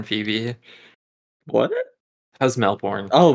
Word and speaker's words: Melbourne: Yeah, how's Melbourne? How's Melbourne, Phoebe? What? How's Melbourne? Oh, Melbourne. I couldn't tell because you Americans say Melbourne when it's Melbourne.